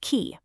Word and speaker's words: chi: He follows the word chiasmus back to the Greek letter chi, which is shaped like an X and pronounced ki.